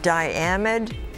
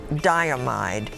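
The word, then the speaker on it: diamide: Greek element Diane might are there any alternate pronunciations there are die a MIDI diam I'd die amide di am IDE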